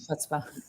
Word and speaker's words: chutzpah: I think it's because there is no sound. You got to get a little phlegm on the soft palate.